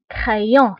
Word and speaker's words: crayon: كا اكزامبل كرايون، crayon يعني سي الى تبعها ار كتنطق بك crayon voilà كنطقوها بلو سون